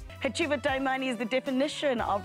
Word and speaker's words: Hacjivah: Hacjivah.